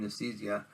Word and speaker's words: Nicieza: One of the ones I've got back was from Acclaim, back when Acclaim took over from Valiant and signed with Fabian Nicieza. That's how you pronounce his last name.